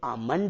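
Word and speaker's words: almond: तो आपको नियम बताया था, दो कॉन्सोनेंट एक साथ आएंगे तो पहला साइलेंट रहेगा। तो ये आलमंड नहीं है, ये आमंड है।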